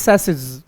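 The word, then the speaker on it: chassis: तुम इसे चेस पढ़ते होगे, मुझे पूरा भरोसा है। चेस नहीं पढ़ते भैया, थोड़ी सी दया करो। Right pronunciation is सैसिस।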